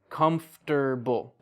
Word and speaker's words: comfortable: it out and so even though you still spell all of those syllables native speakers now say chocolate chocolate or like comfortable comfortable that's how it's spelled but native English speakers we say comfortable and this is like